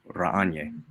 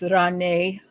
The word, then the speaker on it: Renee: been working for uh raniere it's renee sorry wrong emphasis on the wrong syllable it's been a while